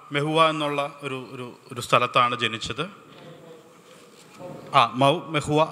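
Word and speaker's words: Mhow: മെഹുവ, അവിടെ മെഹുവ എന്നാണ് അവരുടെ ഒരു ഉച്ചാരണം.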